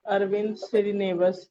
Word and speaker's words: अरविंद श्रीनिवास: ये जो अरविंद श्रीनिवास, यही नाम है ना इनका? पहले तो जी मैं अपनी अरविंद।